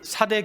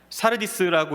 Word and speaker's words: 사르디스: 이제 계시록 3장을 시작하며 소아시아 교회 가운데 이제 5번째로 살펴볼 사대 교회가 소개되고 있습니다. 먼저 사대 지역을 살펴보면 사르디스라고 읽어야 하는 이곳은 고대 리디아 왕국의 수도였습니다.